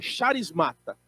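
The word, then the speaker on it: χαρίσματα: é charismata ou carismata eu prefiro a pronunciar Como se lê então charismata charis mata a no Grego é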